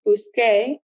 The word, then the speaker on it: busqué: So as you can see with buscar and llegar, car, buscar, changes to QUE to keep that hard k sound, busque, and llegar, GAR, changes to GUE to keep that hard G sound, gay, llegué.